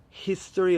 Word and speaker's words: history: I would say that in modern English we should say a history of, because we can actually hear the H, irrelevant of whether you've got the stress on the first or the second syllable.